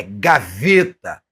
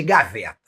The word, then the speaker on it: gaveta: tem o jeito de falar, a forma prescrita da sua pronúncia, ou seja, é gaveta e fechado. Nada de gaveta.